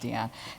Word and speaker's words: Diane: Arbus I should say her name actually is pronounced Diane and it's so as before she was still